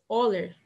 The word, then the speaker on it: Euler: Bom, o Leonhard Euler, que seria a pronúncia correta, o E e o U vai ter som de O.